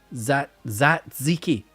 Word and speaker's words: tzatziki: Right, ignore the first T. So, Zatziki.